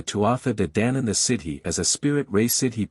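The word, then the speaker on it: sídhe: Dana toath Dan or the cidi pronounced she so firm was the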